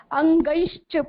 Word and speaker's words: अंगैश्च: अंगैश्च बोलेंगे, ग के ऊपर एड़ी की मात्रा है, डबल मात्रा है, अ और ई मिक्स करके बोलेंगे, अंगैश्च, ठीक है।